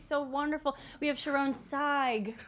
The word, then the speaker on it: Sayegh: We have Sharone Sayegh. See that? That's how you remember how to pronounce her name. See, you sighed.